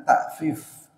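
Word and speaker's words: تأفيف: Ada tatfif pakai ta, artinya mempermainkan timbangan. Kalau buat mereka minta dilebihin, kalau buat orang lain dikurangin. Ini walaupun mirip pengucapannya, beda dengan ta'fif. Ta'fif itu berkata uf kepada orang tua, itu yang nggak boleh. Fala taqul lahuma uf. Perkataan uf disebut dengan ta'fif pakai hamzah.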